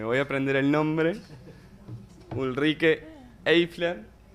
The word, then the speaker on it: Ulrike Eifler: Y le vamos a dar paso a, que me voy a aprender el nombre, Ulrike Eifler, de IG Metall, del Sindicato Metalúrgico Alemán. Ja, perfekt ausgesprochen.